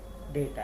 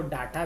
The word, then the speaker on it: data: डेटा है। उसको डाटा भी बोल सकते हैं, लेकिन वो सही प्रोनाउंसिएशन नहीं हुआ। सही क्या बोलेंगे? डेटा ही बोलेंगे।